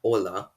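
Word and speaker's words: hola: first words the word ola means hello notice that the h is actually silent in this word conversely the word adios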